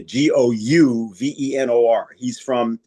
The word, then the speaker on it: Gouverneur: And then at the time of the Constitutional Convention, people like Gouverneur Morris, that's his name. It looks like governor, but it's spelled with a U. So it's a Gouvenor.